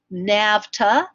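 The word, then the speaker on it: NAVTA: is one that you do need to know nafta is how we pronounce it n a VTA the National Association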